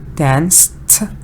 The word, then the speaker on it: danced: dance we have dance dance is one exactly and it's the tear sound danced it's number one and very good number